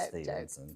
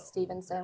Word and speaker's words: Stephenson: Because Stevenson, Stephenson, It's Stevenson, people. It is Stevenson with the PH.